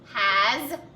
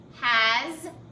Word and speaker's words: has: that's the end so tell me a word in our story that had the z sound at the end of it but it was actually the letter s hmm carolyn oh has